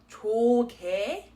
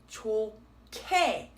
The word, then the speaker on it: 좋게: So this word is not 좋게, it is 좋게.